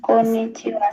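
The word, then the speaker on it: こんにちは: होयोमा है कोनिचिवा नि कोनिचिवा sorry पछाडी जोडिएर आको हा चै उच्चारण गर्दा खेरि हा नभएर वा भन्नु पर्छ है त त्यही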